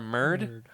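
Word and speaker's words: Myrd: or Merd. Absolutely. You're welcome to join the Merd fan club. How do you spell that?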